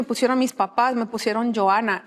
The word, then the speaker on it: Johana: a la semana porque mi nombre se escribe J O h. Entonces lo pronunciamos Johana, la H es muda, ¿verdad?